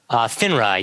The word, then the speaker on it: FINRA: that I've read about is it would you pronounce it FINRA FINRA yeah the Financial Industry Regulatory Authority because they've